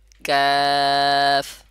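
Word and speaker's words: قاف: কোথা থেকে উচ্চারণ করবেন জিহ্বার গোড়াকে শক্ত ও নরম যে তালু আছে তার সাথে লাগাইয়া কাফ এর উচ্চারণ করবেন এবং কাফ উচ্চারণের সময় চার আলিফ পরিমাণ অথবা তিন আলিফ পরিমাণ টানলে হবে টেনে যখন উচ্চারণ করবেন তাহলে দেখবেন সঠিক উচ্চারণ হচ্ছে আমি আরেকবার বলে দিচ্ছি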